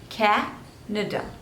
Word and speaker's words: Canada: Cameroon next is Canada so three syllables and stress is on the first one Canada Canada Canada next is